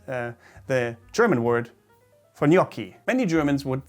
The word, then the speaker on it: gnocchi: crazy i assume gnocchi but it is not gnocchi but gnocchi gnocchi it's very close to the italian pronunciation if not the same and this is what german should call it as well gnocchi not gnocchi even though it's kind